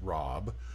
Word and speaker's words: Rhb: to a deity called Rob rhb pronounced Rob and basically he was